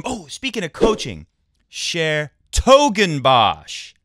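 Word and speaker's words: 's-Hertogenbosch: oh speaking of coaching Sher toen BOS like like big toe share toen BOS is how you say that tournament that City that place you can also say dbos which I understand if you translate it from natland talk from Dutch it means uh magical forest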